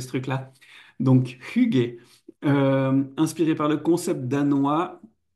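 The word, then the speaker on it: Hygge: Et puis l'huile essentielle Hugé, on prononce comme ça, de souvenir, on a galéré avec une de mes collègues, je me souviens de savoir comment on allait prononcer ce truc-là. Donc Hugé, inspiré par le concept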